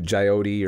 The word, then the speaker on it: Jyoti: To Jyoti or Jody. I know I'm supposed to pronounce it Jody.